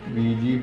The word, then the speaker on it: Ouija: വീജ board via ബോർഡും വിജി board ഓജോ ബോർഡുമൊക്കെ ആയത് അങ്ങനെയാണല്ലോ. എന്നാൽ ഇതിൻ്റെ ശരിയായ ഉച്ചാരണം വീജ എന്നാണ്.